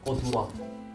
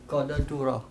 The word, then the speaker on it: corduroy: Kode Duro. Betul. Oh, kode bener. Gimana Kor- ulang, sabar. Kode Duro. Ya. Jadi ada 4 suku kata. Corduroy. Bukan Corduroy. Tulisannya Corde du Roy.